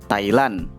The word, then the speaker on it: Thailand: Thai tanpa H dan Lan tanpa D, Thailand.